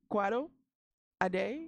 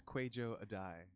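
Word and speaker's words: Kwadwo Adae: Quado Ade? It's Kwejo Adai. Kwejo Adai, like the comic Franklin Ajay, but Adai.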